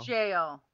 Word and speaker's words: gaol: Jail. It is pronounced jail, but spelled goal.